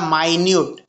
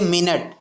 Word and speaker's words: minute: What is the name of द माइन्यूट अब देखो यहाँ पे ये माइन्यूट, MINUTE माइन्यूट। अब यही सेम स्पेलिंग को ही हम लोग क्या पढ़ते हैं, मिनट।